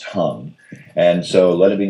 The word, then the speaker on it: Hang: first came in contact with the hung it's pronounced hung and so let it be known that I